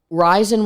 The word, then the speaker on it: Rison: Rison? You're right. Rison.